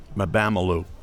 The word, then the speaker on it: Mabamelu: So how do you say this girl's name? First free throw is no good. Oh, there we are. Mabolichuk, is that it? Bamelu? Yeah, that's it. Mabamelu.